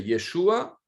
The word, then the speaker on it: Yeshua: y est chaud à son vrai nom c'est yeshoua vous pouvez le prononcé